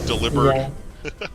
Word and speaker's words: Delibird: Delibird is supposed to be pronounced like delivered. Delibird.